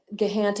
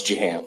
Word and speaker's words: Jahant: Gahant, and I'm saying your name incorrectly. Can you pronounce that for me? It's Jahant.